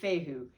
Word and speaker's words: Fehu: i promise that one's going to stick now pronunciation fight fehu the theme is cattle or property and this